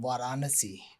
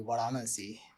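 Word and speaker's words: Varanasi: Uh a cities called a city called Vanasi. Uh I've heard of I think yeah pronounce like in the British pronounce different way we pronounce in in my language will be Vanasi.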